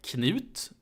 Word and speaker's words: Knut: It's pronounced Canute in English, but in Swedish it's called Knut. And in Danish, it's called Knud.